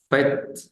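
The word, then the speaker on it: fête: Entonces vamos a tener palabras como fet fet fet Que traduce fiesta y se de letrea f e conflex t e fet fet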